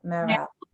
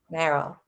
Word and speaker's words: Merrell: Merrell. Merrell.